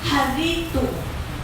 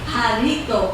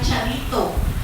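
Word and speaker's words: χαριτόω: Sa Greek po means harito. Pinakinggan ko talaga eh. Harito. Pero ang spelling niya parang charito. Pero ang pronunciation is harito, means favored and gracious.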